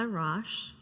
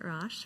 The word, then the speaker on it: Raasch: My name is Raasch. That's how you pronounce it, Raasch, for those of you who have seen it written but not heard it.